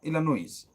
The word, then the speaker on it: Illinois: S O Illinois S is silent. Illinois.